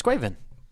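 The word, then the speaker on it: Caoimhín: Try and pronounce it. It's Quaven.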